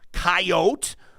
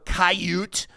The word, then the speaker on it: coyote: incumbent upon you to pronounce this word correctly says good is coyote or caute he says particularly if you're over 65 years of age he says and the bad one unless you're from Wisconsin I don't want to